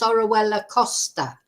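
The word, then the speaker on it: Orihuela Costa: For some reason they say Oriella or this, that or the other, but it's pronounced Orwella, and it's Orwella Costa, because Orwella, if you said, oh, I was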